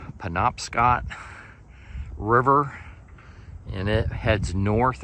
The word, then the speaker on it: Penobscot: And this is the, I believe it's pronounced Penobscot River, and it heads north up into Maine, going up this way.